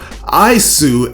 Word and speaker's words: Ys: all the intros to YS, or Isu as it's pronounced in its Japanese territory.